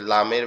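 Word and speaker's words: لام: লামের উচ্চারণটা মূলত জিহ্বার আগা উপরের তালুর সাথে লাগবে, জিহ্বার আগা উপরের তালুর সাথে লাগবে, লেগে একদম নরম আওয়াজে উচ্চারিত হবে, লাম, লাম, লাম, এরকম ভাবে আওয়াজটা আসবে।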